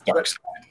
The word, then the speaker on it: Darkseid: I hear there's a controversy now of how to pronounce his name. It's Darkseid.